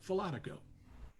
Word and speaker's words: Falatico: How do you pronounce her last name? Because I always thought it was Falatico. That's right, Falatico.